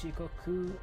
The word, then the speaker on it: Shikoku: So, uh Okay, so that's Shikoku and It's funny that it doesn't show regions.